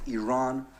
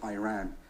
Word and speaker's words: Iran: our country's name wrong our country is named Iran not Iran please once and for all